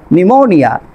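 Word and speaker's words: pneumonia: এর পরে টি আছে থ্রোড্যাকটিল, তারপর করেন আপনার নিউমোনিয়া, ফি এর পরে এন আছে, তারপর খেয়াল করেন সাইলেন্ট লেটার এস, এল এর আগে এস থাকলে,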